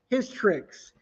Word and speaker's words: Hystrix: I think I pronounced that right. Let's see. It is Hystrix.